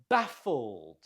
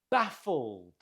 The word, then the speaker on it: baffled: Baffled. Note the stress on the first syllable. Baffled.